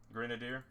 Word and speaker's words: Grenadier: It'll be, Grenada? Or Grenada? How do you Grenadier? pronounce that one? That little goblin. Grenadier.